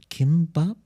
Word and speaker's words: kimbap: There's something called kimbap. Oh yes. What is that? Did I pronounce it correctly?